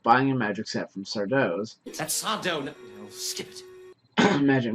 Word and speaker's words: Sardo: their recurring characters Mr sardo that's tattoo no Mister Accent on the toe sorry sorry sardo and Dr Brink think